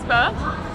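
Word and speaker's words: phở: It's spelled like pho, but it's pronounced pho.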